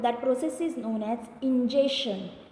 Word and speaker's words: ingestion: process is known as ingestion, not injection student. See the pronunciation, ingestion.